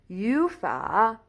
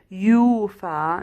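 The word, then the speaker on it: 语法: the second one so it's going to be ufa ufa ufa and i'm not pronouncing you far no ye focus here smile ufa which means grammar here no it's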